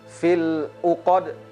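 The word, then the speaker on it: فِي الْعُقَدِ: Nah, hati-hati kita dalam mengucapkan kalimat fil 'uqad. Kemudian di sini ada qalqalah pada huruf dal.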